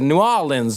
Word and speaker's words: New Orleans: orleans he's like no you gotta say it like with the accents the the oh and the the new and the o are like connected new orleans and i was like